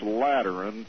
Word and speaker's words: Lateran: By terms of this Lateran Treaty, did I pronounce that right?